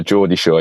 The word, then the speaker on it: Geordie Shore: Geordie Shore? Yeah, Geordie Shore, yeah.